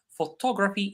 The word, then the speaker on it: photography: Photograph the stress is on the first syllable. Photography is on the uh on top. Photography.